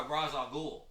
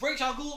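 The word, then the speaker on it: Ra's al Ghul: his ass kicked by Raz al Ghul but Rachel ghoul always kicks his ass and I know I pronounced it wrong or I pronounced it two different ways it's both ways he was trying to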